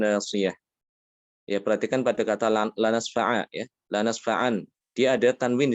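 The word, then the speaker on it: لَنَسْفَعًا: Sehingga kalau diminta untuk berhenti pada kata ini, dibacanya apa? Lanasfa'a.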